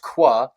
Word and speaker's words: Khoa: k h OA but it is pronounced qua and qua and I